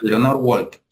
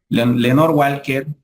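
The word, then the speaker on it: Lenore Walker: lenor Walk Walker Walker cre que se pronuncia Leonor Walker que es la que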